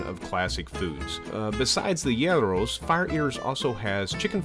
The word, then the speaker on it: gyros: food here including the gyros and according to our greek friends the correct pronunciation is yarrow not hero or gyro the best location to